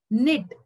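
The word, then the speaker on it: knit: का उच्चारण नहीं है निट अब हम निट बोल रहे हैं क निट नहीं बोल रहे सो के इज साइलेंट रंग डब्लू इज साइलेंट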